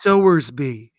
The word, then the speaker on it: Sowersby: And I pronounce it Sowersby. Oh, so like Sowersby. Like reaping and sowing. Yeah, not like a baby pig like Sal.